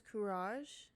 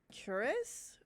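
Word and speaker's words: Kuras: found the future and I completely butchered this man's name his name is kurage and I call him cures for the whole game I haven't filmed part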